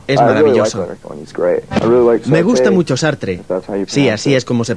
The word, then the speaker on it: Sartre: Me gusta mucho Sartre, sí, así es como se pronuncia.